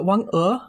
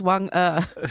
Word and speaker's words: Wang E: Yeah, so Wang E is the pronunciation. Yeah, Greg, it's Wang E.